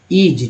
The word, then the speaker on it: is: अगर मान लीजिए IS लिखा रहता है तो IS का एस है तो IS पढ़ेंगे, इसको पढ़ेंगे ईज।